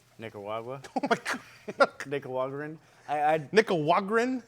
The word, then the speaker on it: Nicaragua: Nick. Nick? Ra. Ra. Gua. Gua. Nicaragua.